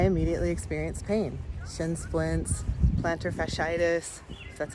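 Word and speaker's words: plantar fasciitis: times and I immediately experienced pain shin splints planter fitis that's how you say it and btis just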